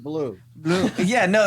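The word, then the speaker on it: bleu: accent when he said blue blue yeah no it's like because it's not a blue it's b-l-e-u it's not spelled like yeah it's it's a it's a french word so seriously now what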